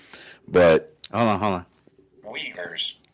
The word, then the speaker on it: Uyghur: hold on hold on Weavers Weavers that's pronunciation of that really yeah that I I'll do it again Weavers Weavers okay there's no V there but whatever um camps